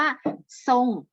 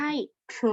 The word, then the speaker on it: ทรง: หน้า เสื้อ ข้าง นี้ ให้ ออก เสียง คำ ว่า ทรง ไม่ ใช่ ตรง นะ คะ ทรง ไม่